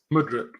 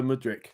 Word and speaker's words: Mudryk: Mudryk. Oh, yeah, it's Mikhailo Mudryk.